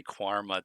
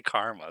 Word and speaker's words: Qarma: I don't know why, but every time I see it, I say quarma, too. And I'm like, it's clearly karma.